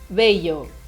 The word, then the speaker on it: bello: falando aqui do L, vamos falar sobre a pronúncia dessa letra. Então, a letra A, como é que é belo, bonito em espanhol? Bello, bello.